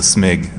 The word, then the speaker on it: Smig: guest is sanity bit you could also say my name is a smig sort of like you're sneezing you know a snake that works pretty well just saying so who